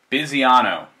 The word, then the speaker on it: Bisiano: Okay, how do you pronounce the name? Bisiano.